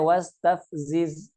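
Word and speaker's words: واستفزز: Wastafziz dibacanya tav ya. Wastav bukan. Tapi dibacanya wastafziz.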